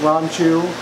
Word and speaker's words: ranchu: get the backs right whether that's ranchu or if you pronounce it ronu um and the Bubble